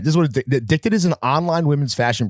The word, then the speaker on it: Edikted: The brand, when I say Addicted, I mean a brand that is spelled EDIKTED, right?